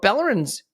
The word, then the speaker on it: Balogun: But Balogun's trajectory is also part of this equation. So do you have a thought on It's pronounced Balogun. Balogun? Yeah, Balogun. Buy a gun.